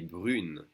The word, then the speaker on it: brune: Now we separate the U and the N, and we do pronounce the N. Elle est brune.